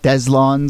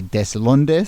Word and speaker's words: Deslondes: jump in but we're going to go with deslon is the pronunciation here um if you were saying this in Spanish and this will tell you how it's spelled but you'd say deson um but you know I think deslon there